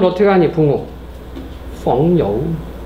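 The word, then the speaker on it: 朋友: 이거 중국 발음을 어떻게 하니? 붕우. 펑여우.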